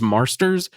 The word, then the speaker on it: Marsters: And he is, I believe it's James Marsters. I think is how you say his last name. Yeah, James Marsters.